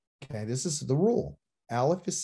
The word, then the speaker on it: aleph: will forget this because the aleph is silent except when there's vowels beneath it that's a rule okay this is the rule aleph is silent so it's